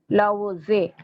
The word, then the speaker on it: Laozi: Laozi. Laozi. Okay, L-A-O-T is silent, Z-E.